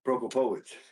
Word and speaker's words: Prokopowicz: So Prokopowicz. I hope that's right. What do you think, Dave? Prokopowicz. It'd be terrible if you double down and learn how to say it and it's still wrong. Oh, I nailed it.